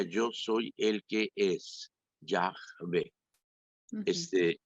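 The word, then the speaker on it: Yahvé: simplemente una barbaridad entonces leer Jehová es una mala pronunciación de Ya ve Ok que significa yo soy el que es Ya ve este y que es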